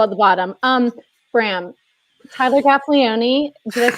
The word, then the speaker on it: Gaffalione: Bram, Tyler Gaffalione. Did I say his name right, guys? Close enough. Go on. Gaffalione. Drop the E. Just Gaffalione.